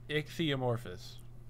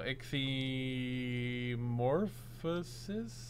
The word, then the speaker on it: Ichthyomorphosis: The first part's great. Ichthyo is great. It's not metamorphosis. Like, if I go through a change, I'm not going through a metamorphosis. You keep removing syllables. What am I don't understand what I'm saying wrong, to be honest with you. You said morphous, right? Yeah. Not morphosis. It's metamorphosis, not metamorphosis. So ichthyomorphosis?